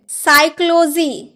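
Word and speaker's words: psychology: शाम यानी की भजन साइकोलॉजी क्या आपने कभी साइकोलॉजी बोला है पर cycloji नहीं ना क्योंकि पी डी चुप रहता है हम बोलते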